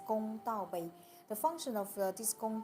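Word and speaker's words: 公道杯: In Chinese, we pronounce as Gong Dao Bei.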